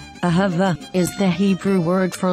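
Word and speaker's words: אהבה: within a word but when the letter hey is found at the end of a word we pronounce it as ah so this word is pronounced as ahava ahava ahava is the hebrew word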